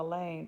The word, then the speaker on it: Elaine: I may be a short timer, but you don't have to be at our school very long to know that Elaine rhymes with pain.